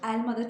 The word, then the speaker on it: elma: kapalı karıştırılır biliyor demiştik Elmada çok sık iğne duyulan yanlışlardan biri elmayı kapalı ele söylüyoruz Erginer de deniliyor buna benzer enginar O da kapalı eline mercimek derken bir cimbit değil mercimek oradaki e açık mercimek mercimek de değil mercimek açıyoruz Elma'daki Eee kapatıyoruz elma değil elma bu patates pubg stil